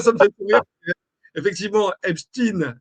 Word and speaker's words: Epstein: me fait rire effectivement Epstein, c'est la prononciation américaine tout simplement. Donc ou même sa prononciation allemande en fait si on si on veut reprendre les choses. Euh voilà. Donc il faut pas y voir une question autre que que de question d'accent et de prononciation à l'international.